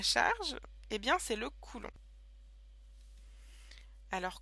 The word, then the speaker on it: Coulomb: l'unité de la charge et bien c'est le Coulon alors Coulon ça s'écrit comme ça Coulon et ça vient du